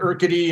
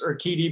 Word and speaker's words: Urquidy: You said Urquidy, it's Urquidy, Big T, and everybody else we did a great job today with the names.